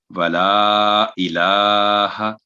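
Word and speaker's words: ولا إله: تو بعد دفعہ یہ ہا کی آواز لمبی کر دی جاتی ہے، تو یہ 1 سیکنڈ رہے گی ولا الہ. تو یہ ہے اس کا صحیح تلفظ.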